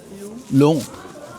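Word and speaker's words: 龙: a thousand years and the Chinese dragon pronounced like Long Long that's the name for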